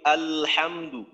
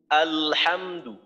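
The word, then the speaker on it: الحمد: আলহামদু, লামের আওয়াজ চালু থাকতে থাকতেই হা এর উচ্চারণ করি, আলহামদু, আলহামদু।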